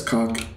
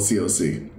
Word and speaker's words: coc: And yes, I still pronounce it as cock in my head, but officially it's called coc.